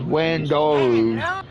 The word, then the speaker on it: Wandaru: If you don't know how to pronounce that, it's called it's pronounced Wandaru. It's the Japanese version of my first name.